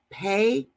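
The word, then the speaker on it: פה: Well, 63:10 for mouth is the word pay, just like the letter pay.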